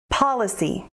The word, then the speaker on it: policy: Policy. Policy has three syllables, policy, with the emphasis on the first syllable.